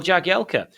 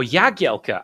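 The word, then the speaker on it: Jagielka: is yes that's right Phil jagela or yagiela as it actually should be pronounced but we kind of got stuck with the jagela and it's stuck former blades and Darby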